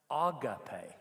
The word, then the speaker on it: agape: I hear it correctly pronounced agape.